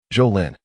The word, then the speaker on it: Zhou Lin: Zhou Lin. Correcting the pronunciation, Zhou Lin spoke eloquently.